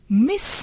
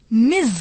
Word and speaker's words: Ms: किया जा सकता है इसको मिस ना प्रणाम करके मिर्च अ कि इसकी स्पेलिंग